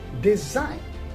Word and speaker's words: design: e i g and design in the word design g is also silent another word we have